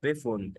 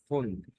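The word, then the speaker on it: Pfund: واحد يجي يقول لي ده يا ده اسمها بفند، لا هي فند، لان البي اف هنا بتنطق معانا اف، يبقى البي اف بتنطق في اول الكلام اف، يبقى فند. مطعم، ريستورانت، ريستورانت.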